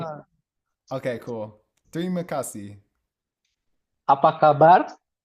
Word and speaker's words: apa kabar: Apa kabar? How do you spell that? Apa kabar?